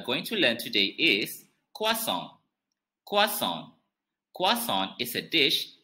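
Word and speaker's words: croissant: that we are going to learn today is kwasong kwason kwason is a dish that originates from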